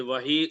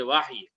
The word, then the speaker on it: وحی: لفظ وحی سنا ہے، یہ وحی اردو پروننسیشن ہے، اور اگر عربی میں صحیح تلفظ کے ساتھ بولا جائے تو ہم بولیں گے واحی واحی۔ اور آپ حضرات